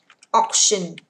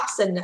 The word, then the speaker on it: auction: Auction mà nghĩa là đấu giá nhé các bạn ơi. Auction mà nghĩa là đấu giá, không đọc là option, đọc là auction, đấu giá.